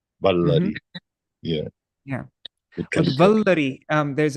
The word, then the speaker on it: Baladeva: Like when we say Baladeva, we use all the letters. Baladeva.